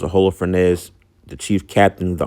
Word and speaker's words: Holofernes: one of the generals, I think his name was H uh Holo or Hollow Fes, I think is how you pronounce his name.